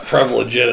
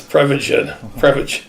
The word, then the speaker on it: Prevagen: Not Prevagen, it's Prevagen. Prevagen.